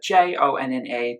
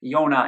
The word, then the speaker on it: Jonna: She spells her name I-O-N-N-A instead of J-O-N-N-A to make it actually pronounced in the Swedish way, Jonna instead of saying Jonna, like a lot of probably English people would probably say otherwise.